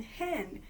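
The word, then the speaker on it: ἕν: in the nominative and hen is how you say it in the neuter in the nominative thoughts I call it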